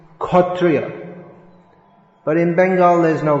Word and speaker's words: kshatriya: same as k so in bengali kshatriya is khotriya but in bengal there's